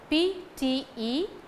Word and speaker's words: pterodactyl: Pterodactyl, P-T-E-R-O-D-A-C-T-Y-L. It is to be pronounced as pterodactyl. First P is silent.